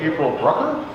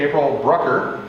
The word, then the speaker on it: Brucker: uh with us today april brucker sounds like hucker and i said it wrong okay well but whatever